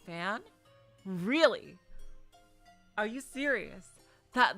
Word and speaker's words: fin: i thought it was finn because you know finn is like you know finale final but finn in french is pronounced fan really are you serious